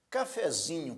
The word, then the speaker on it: cafezinho: Cafezinho, por sua vez, já é uma palavra paroxítona. Por que paroxítona? Veja que a sílaba mais forte é zi, cafezinho.